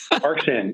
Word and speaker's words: Arxan: First of all, am I pronouncing the company name properly? Arxan, yeah, it's interesting.